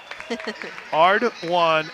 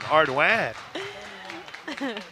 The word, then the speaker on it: Ardoin: Yeah. Ardoin, sound to describe crying. So to let you know that it's wah like wah. Or I guess that would be wan, Ardoin.